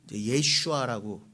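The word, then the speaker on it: יֵשׁוּעַ: 여기서의 여호수아는 예슈아라고 그 원어에는 돼 있는데 우리식으로는 여호수아예요.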